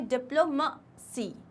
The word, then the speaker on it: diplomacy: तो वो प्रोनाउंसिएशन हमें लाना है डिप्लोमेसी. मसी. मैसी नहीं है वो, ई नहीं है.